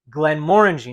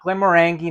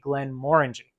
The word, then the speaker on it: Glenmorangie: And that's how you pronounce it, guys. Glenmorangie, not Glenmorangie, not Glenmorangie, Glenmorangie.